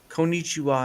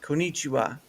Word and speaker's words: konnichiwa: Or people will say konnichiwa, and it's konnichiwa. There's a little elongatedness to that.